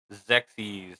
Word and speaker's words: XEXYZ: into it so today we are talking about zexis for the NES and that is spelled X XYZ zexis was released in Japan